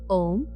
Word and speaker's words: ओम: बीज मंत्र है ओम ए यू एम ध्यान से सुनिए। ए यू एम तो जब आप इसका उच्चारण करेंगे एक बार मैं करके बताती हूं। उस तरह से करेंगे। आपको अ से शुरुआत करना है। तो आप कैसे शुरुआत करेंगे? आ फिर उ ठीक है?